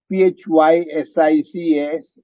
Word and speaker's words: physics: not always the case p h y s i c s c s is phase six pH food authorities is pronounced F but that's how it is so physics so these sounds when